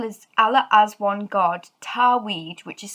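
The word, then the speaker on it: Tawhid: and the title is allah as one god tarweed which is spelled t a w h i d now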